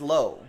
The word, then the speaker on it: Lowe: his teammate brandon lau nate says low that's how he pronounces his last name that's from nt baseball